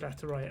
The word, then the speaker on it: laterite: it what you like it is called letter right as its real name and it makes aluminum